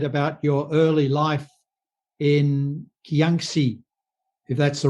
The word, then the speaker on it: Kyaukse: So, David, I'd be grateful if you could tell me a little bit about your early life in Kyaukse, if that's the right pronunciation. Kyaukse.